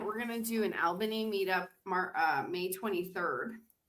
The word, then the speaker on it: Albany: There's only one L in Albany. There's not two L's. It's not all, but it's Albany, but but but you're right. It's you pronounce it all.